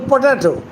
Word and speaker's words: potato: For example, potato. Potato. You cannot pronounce it parallelly. potato potato Okay? Give me a potato chop. potato So, the accent is on the middle syllable.